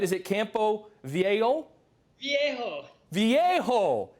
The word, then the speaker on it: Campo Viejo: Is it Campo Viejo? Viejo. Campo Viejo.